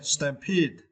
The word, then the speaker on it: Stampede: was a stampede okay Stampede it is Fab and you can see the phonic you need to strap strap the second syllable Pete peed okay Stampede okay stamp it uh